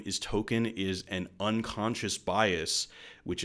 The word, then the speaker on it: Token: his name is still token it's not tolkien his name is token black in the episode stan